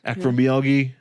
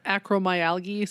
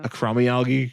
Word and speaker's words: acromegaly: Acromegaly. I always say it wrong. Something acromyalgia, something like that. Yeah. Acromegaly.